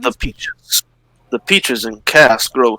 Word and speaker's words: Kaas: has only when it has the little line above the A is it pronounced chaos.